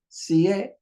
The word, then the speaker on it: siete: It's only two syllables, so it has to be put on the first. It has to be placed on the first. Siete. You see, siete, which is 7.